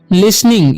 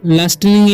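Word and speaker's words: listening: लिसनिंग, इसे पढ़ते हैं लिसनिंग, ठीक है, इसे लास्टनिंग या लिस्टनिंग नहीं पढ़ना है, ठीक है, इसे पढ़ते हैं लिसनिंग। लिसनिंग टू, T silent आता है इसका, ठीक है।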